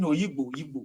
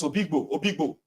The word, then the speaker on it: Oyigbo: started pronouncing it as Obigbo. And I'm like, but they are writing Oyigbo. They said, no, it's Obigbo.